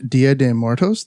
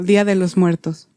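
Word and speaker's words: Día de los Muertos: Did I say that right? You did not. You're so cute. Okay. I'm super white and I knew that was wrong. Okay, how do you say it? Yeah, Dia de los Muertos.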